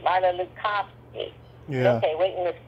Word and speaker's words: Marla Lukofsky: And I said, "Marla Lucki." Mara Lucski.